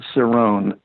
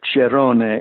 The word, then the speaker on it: Cerone: But the most complete theorist is um I pronounce it Cerrone or Cheron or Cerone because he was Spanish proone.